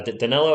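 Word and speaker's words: Danilo: chat here spurs are going to get uh daniello is how you say it and we're going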